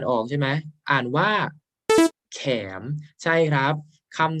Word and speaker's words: เขมร: ชนิด หนึ่ง นะ ครับ แต่ ถ้า เกิด ว่า เรา ไม่ อ่าน ว่า แขม ล่ะ อ้า เรา อ่าน ว่า ขะ แมร์ ก็ ได้ ค่ะ แม่ หมาย ถึง ชาว เขมร หรือ ชาว กัมพูชา นั่น เอง เพราะ ฉะนั้น ถ้า เรา